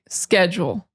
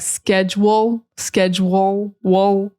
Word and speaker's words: schedule: And like I said, this is American English pronunciation. British, Irish, Scottish, Australian is going to be different. In American English, we say schedule. Some people might say more like schedule, wool.